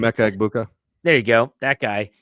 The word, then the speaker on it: Emeka Egbuka: Emeka Egbuka.